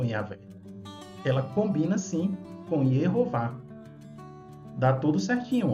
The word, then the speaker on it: Yehová: visualizarmos como legítimo, no caso, se referindo à pronúncia em português, Jeová, sim, porque sabemos que em hebraico é Yehová, tudo bem.